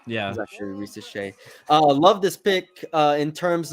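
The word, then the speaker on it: Risacher: I like the way he really tried to pronounce that name. Yeah. He's actually Rizache.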